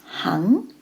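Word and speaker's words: 反: It's pronounced hung, and it's only in this kanji to give the kanji its sound. It's a phonetic element. It gives the kanji the sound of hung.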